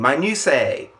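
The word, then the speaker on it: minutiae: new my new say I think that's how it's pronounced if I'm wrong wrong too bad it's me I'm saying it now it's pronounced that way my new Sayer means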